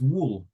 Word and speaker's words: wool: Pronunciation is wool.